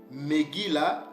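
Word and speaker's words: מגילה: de lamentation en hébreu on dit c'est faire qui note où on peut aussi dire Megui là qui note qui veut dire rouleau de complainte ou de lamentations c'est comme ça que nos perds prononcer ce mot là pour dire livre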